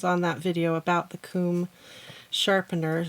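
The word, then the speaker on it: Kum: that video about the comb sharpener. So comb is spelled K-U-M.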